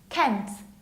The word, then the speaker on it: Kent: This one is Kent, like Clark Kent, Kent.